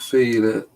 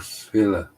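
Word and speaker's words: Fila: Is it feeler or filler? I would say filler. And he says feeler. I'm not even sure what I'd say.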